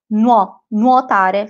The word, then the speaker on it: nuotare: You can say nuotare if you come from the south, nuotare from the north.